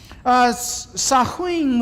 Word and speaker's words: Samhain: And I'm saying that right. Doesn't look like I'm saying it right based on the spelling. The spelling is right. The pronunciation is fairly close, I guess, I hope.